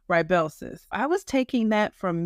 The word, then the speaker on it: Rybelsus: Bell's during that video I called it rebellis I don't think I pronounced it correctly so hopefully today I'm pronouncing it correctly Rellis I was taking that